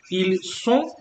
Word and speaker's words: ils sont: So they are is ils sont avec the S sound, and ils ont avec the Z sound.